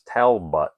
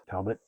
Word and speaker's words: Talbot: or the lenwellians pronounce his name as Talbut. Talbut. Talbot. It belies the quiet dignity that Lon Cheney Jr. so rightfully deserves or rightly deserves. Um, Talbot. Talbot. I hadn't thought about it at all. No, I think that's the actual pronunciation.